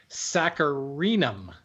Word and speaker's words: saccharinum: Silver maple is Acer saccharinum. There's an extra syllable in there.